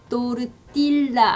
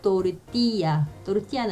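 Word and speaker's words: tortilla: 그 다음에 또르띠라 아니고요, 또르띠아는 아시죠?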